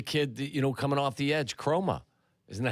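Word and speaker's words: Kromah: Same thing with the kid, coming off the edge, Chroma. Isn't that how you pronounce his name?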